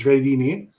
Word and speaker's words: Jredini: Jredini, is that how it's pronounced? Yes, yes. Hi, everyone. Yes, last name is Jredini.